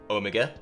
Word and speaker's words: Omega: and yes that's how many of us Brits pronounce it Omega now s live 824 is a collection of